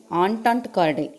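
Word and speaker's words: entente cordiale: That resulted இன் ஆன்டாண்ட் கார்டைல். என்டன்ட்டின்னு சொல்லக்கூடாது, அதை you have to pronounce it ஆஸ் ஆன்டாண்ட் கார்டைல் இன் 1904.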